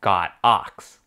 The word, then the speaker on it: Godox: the correct pronunciation is got ox they are a company from China and in Chinese that use the characters God and ox so technically is pronounced God ox and not godox so